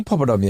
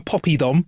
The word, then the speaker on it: poppadom: Yeah, I'll have a poppy dom. Nah, mate, there's no Y in it.